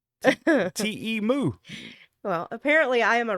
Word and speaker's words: Temu: Oh, I'm still on Temu. You're still in Temu. Uh, How do y'all say Temu?